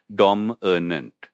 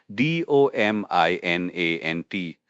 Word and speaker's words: dominant: The pronunciation for dominant is dominant. And spelling d o m i n a n t. Remember the i in the middle. It's not dominant.